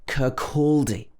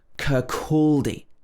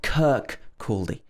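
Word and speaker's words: Kirkcaldy: scotland that's difficult is curculdi this is pronounced with stress on the second syllable curculdi kurkuldi not kirk caldi if you're visiting scotland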